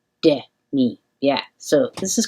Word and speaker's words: Demi: looked it up and it's the opposite of the actress or musician whose name is spelled the same way. That person, she pronounces her name Demi, and this woman, who is the author of this and many other books, is Demi. Demi.